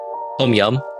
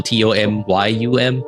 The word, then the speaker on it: tom yum: I mean, tom yum. So TOMYUM, tom yum.